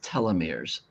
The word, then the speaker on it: telomeres: So, the longer you're on Earth, your And that's pronounced telomeres. Telomeirs.